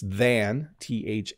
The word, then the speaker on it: than: When we say than really quickly, it does sound like then.